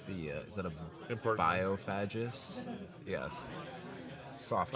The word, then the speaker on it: Biophagus: biophagus? Yes. Soft G.